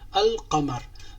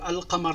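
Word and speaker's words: القمر: Qa, le qa, al-qamar. Donc, le L se prononce bien dans ce cas.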